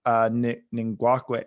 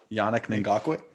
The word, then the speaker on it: Ngakoue: and Ngakwe. I can't speak. Yannick Ngakoue. Thank you Yeah. for pronunciating your words, and I can't do that.